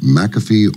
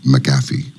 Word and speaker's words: McAfee: it do you prefer is the correct pronunciation McAfee or maffi well my father grandfather and his father said MCA but I'll answer to anything okay gotcha all right McAfee it is then I just thought thought it